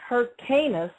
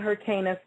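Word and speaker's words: Hyrcanus: Now, Simon was murdered by his own son-in-law after which time his son John Hercanis, which is spelled H Y R C A N U S the first succeeded him and took over.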